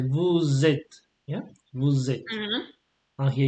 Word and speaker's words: vous êtes: And you should do the liaison whenever it's possible. For example, here you say vous êtes, yeah, vous êtes.